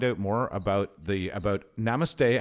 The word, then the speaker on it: namaste: can people find out more about the about namaste how do i say it properly i don't think i ever say it right namaste namaste namaste say it roger namaste you say it